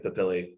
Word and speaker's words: papillae: call dermal papillae, okay, or papillae, I don't know. I think it's papillae, the technical correct pronunciation.